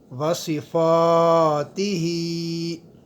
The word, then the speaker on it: وصفاتہ: مقدار لمبا کریں گے۔ باسمائہ وصفاتہ، صاد اور سین میں فرق کرتے ہوئے صاد کی آواز بھاری آئے گی۔ اس کے بعد